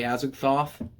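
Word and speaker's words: Azagthoth: by guitar player trey azakhthoff that's not his uh birth name i'm pretty sure that's how you say it it's i think it's the same as the lovecraftian entity as a thoth it's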